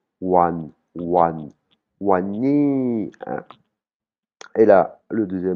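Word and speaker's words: วันนี้: on a le mot wan nii wan nii qui veut dire aujourd'hui hein on voit ça commence par un w donc ça va se prononcer "wan wan wan ni" hein.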